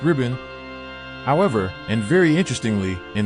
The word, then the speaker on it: 日本: In modern Chinese, Nihon. is pronounced ribbon.